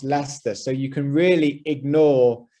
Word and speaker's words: Leicester: it to you now it's pronounced lester but it does not look like the way you pronounce it and many names of